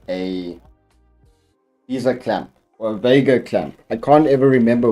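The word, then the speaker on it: VESA: It's Visa. Okay, it says they're Visa.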